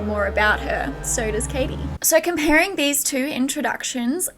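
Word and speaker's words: Cady: She's literally carried like royalty, while Katie Caddy? It's pronounced like Katie.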